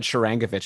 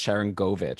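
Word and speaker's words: Sharangovich: apologize uh i guess i also said shirangavich at the start i know it's sharon govich so if we want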